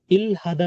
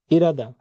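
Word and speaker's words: 일하다: তো ওসুল সাদা কাপড় কেনা, ইরাদা, ইলহাদা না, কিন্তু এটার উচ্চারণ হচ্ছে ইরাদা, এটাও বাচ্চিমের রুলস এর মধ্যে পড়ে।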